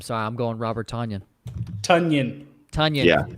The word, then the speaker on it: Tonyan: Tunyon. Yeah, Tunyon. It rhymes with Funyun.